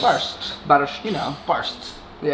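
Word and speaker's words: barszcz: This is barszt. Barszt. Yeah, it's barszt. Barszt. Barszt. Yeah, it's quite hard to pronounce.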